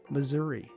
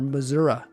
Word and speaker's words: Missouri: Louisiana, two, Texas, three, Oklahoma, four, Missouri or Missoura.